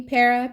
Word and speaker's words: Pera: it says perah see Pera p e r a and it's pronouncing it's pronounced per Pera you see the pronunciation